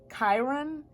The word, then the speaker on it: Chiron: to say this what was it again ah Chiron Chiron your healing power empathy and ability to